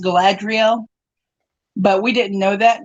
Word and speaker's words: Galadriel: it's it's in in the token world is pronounced Galadriel but we didn't know that when I was